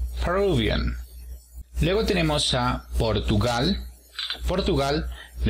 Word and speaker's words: Peruvian: Y para decir peruano, también el apóstrofo se encuentra en la segunda sílaba. Peruvian.